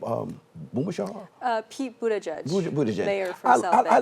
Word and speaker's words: Buttigieg: do you say his name um uh pete buddha judge i like his i like his poise you